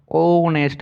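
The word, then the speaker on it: honest: अब देखिए यहाँ पे एच है लेकिन एच साइलेंट है, ओनेस्ट मैन, तो ओनेस्ट यहाँ पे प्रोनाउंस हो रहा है तो AN होगा।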